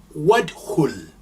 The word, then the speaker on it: ادخل: Here you don't hear the alif being pronounced because we have suppressed it, because this is a weak alif. you say wadkhul.